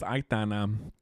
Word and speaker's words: Aitana: I always say her name wrong, but it's Aitana.